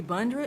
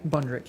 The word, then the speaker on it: Bundrick: you very much Lee bndr did I pronounce that correctly yeah bundrick yeah tell name and